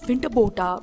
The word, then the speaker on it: Winterbottom: the british district officer his name is pronounced as winterbota by the africans and the igbo also